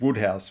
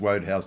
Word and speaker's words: Wodehouse: who is pg roadhouse the correct pronunciation is woodhouse but i grew up with him in my head as roadhouse so i can't change but um so i i